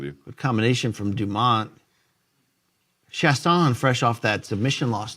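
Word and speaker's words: Chiasson: Chasson is the pronunciation. Chasson.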